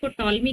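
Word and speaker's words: Ptolemy: पढ़ेंगे और उसके बाद पी साइलेंट टॉलमी कहते हैं ठीक है तो टॉलमी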